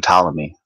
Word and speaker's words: Ptolemy: it till mayic that's I think the P is silent they're told Tomei a--the that's that's from ptolemy philosopher geocentric philosopher let's